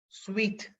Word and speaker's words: suite: Sweet. suite. And in Tamil Nadu we pronounce, நம்ம அப்படியே Tamil pronounce பண்ற மாதிரியே suited, suit room, ஒரு suit room போடலையா, it's pronounced sweet.